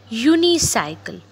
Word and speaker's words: unicycle: we put a here a unicycle again the sound creates you that's why we put here a in this picture you